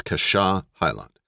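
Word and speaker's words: Kasia Hyland: okay that's difficult Kasia it's Kasia Highland and getting the getting the the syllable stress correct makes all the difference okay cuz shah aahana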